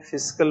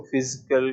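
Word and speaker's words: fiscal: रहेगा इसको फिस्कल स्टिलस उच्चारण में फिस्कल बोलना है कई बच्चे इसको फिजिकल इस तरह से बोलते हैं आप एस का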